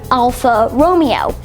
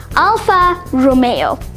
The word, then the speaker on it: Alfa Romeo: It's actually pronounced Alfa Romeo. That's May as M-A-Y, the month May. So, Alfa Romeo. The car brand is Italian, so it's going to sound really Italian-ish, and that's how we get Alfa Romeo.